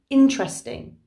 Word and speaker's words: interesting: said chocolate chocolate interesting okay so this is spelt interesting but we say interesting interesting and that brings me